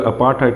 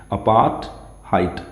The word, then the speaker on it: apartheid: अच्छा, इसकी pronunciation अपार्थाइड नहीं है, अपार्थहाइड। लास्ट वाला जो डी है यहाँ पर, ये डी, इस डी की भी प्रोनाउंसिएशन ट में आती है, अपार्थहाइड, ओके, अपार्थहाइड।